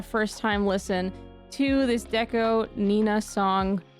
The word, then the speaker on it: DECO*27: sorry I've received breaking news that a new Deco Nina song has come out by the way if you remember my last video about Deco Nina I called him deco27 the whole time I eventually learned that that's